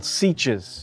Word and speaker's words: sietch: So in the film, the name for these Fremen villagers are called Sietches. But according to the author, it's pronounced Sietch.